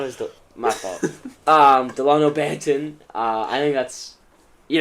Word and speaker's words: Delano Banton: I always thought it was my fault um Delano Banton uh I think that's you know Blockbuster what